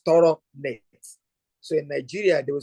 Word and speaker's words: Toronet: And that bridge currency is, if I pronounce it the West African way, is Toro net.